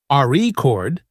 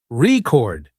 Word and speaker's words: record: For example, in the word record, if you stress the first syllable, RE chord, it's a noun, but if you stress the second syllable, record, it's a verb practicing stress, and intonation makes you sound more natural.